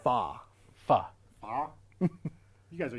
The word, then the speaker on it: pho: pronounced? Fa.